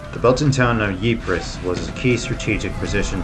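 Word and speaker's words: Ypres: 22nd 1915 ye fell dubbed wipers by British troops due to its difficult pronunciation the Belton town of yis was a key strategic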